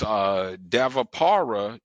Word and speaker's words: Dvapara: And it's Davapara Yuga. Now this is known as the Bronze Age. Now that's spelled Dvapara, the Bronze Age.